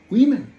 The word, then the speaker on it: women: Spelling কিন্তু WOMEN, but pronunciation is নট ওমেন, নো, উইমেন। যার জন্য বলে রাখে একটা ভালো ডিকশনারি কিন্তু রাখতে হবে।